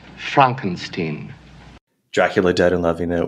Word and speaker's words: Frankenstein: of SPO with his young Franken sign it's pronounced Frankenstein Dracula dead in loving